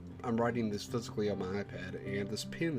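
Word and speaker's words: お: This should be O. O. This is the O, or O. It's the equivalent of the vowel O in English. You pronounce this one as O, like O-H.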